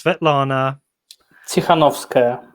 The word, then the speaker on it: Sviatlana Tsikhanouskaya: Can you just pronounce her name for me? It's Sviatlana Tsikhanouskaya.